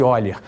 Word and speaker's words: Euler: a mediana de eiler escreve-se Euler mas pronuncia-se eiler era um matemático alemão